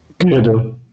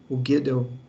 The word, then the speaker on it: Gödel: Aí em 1931, como que pronuncia isso aqui? Gödel? Falo Gödel. Como é que é, não? Gödel.